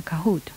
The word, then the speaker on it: Kahoot: Es igual, se escribe igual como suena, Kahoot.